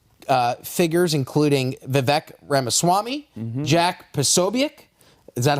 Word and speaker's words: Posobiec: The article goes on to cite right-wing figures, including Vivek Ramaswamy, Jack Posobiec. Is that how I pronounce that last name? Yeah, Posobiec.